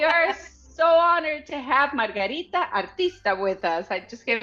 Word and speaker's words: Margarita Artista: I'm saying your name in full Spanish here. We are so honored to have Margarita Artista with us.